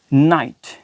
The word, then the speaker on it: night: अब देखिए GH यहाँ पर लिखा जा रहा है लेकिन क्या है कि प्रनाउंस नहीं किया जा रहा।